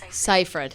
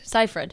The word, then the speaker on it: Seyfried: the thing i d i go back and forth from saying it right and wrong like sometimes i like say the wrong pronunciation and then i just flip seifried ciphered but i there are times when my brain just forgets and i say it the wrong way and then i'm like